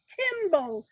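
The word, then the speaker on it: tymbal: The males have a part on their body called a timbo. I'm going to spell that one for you.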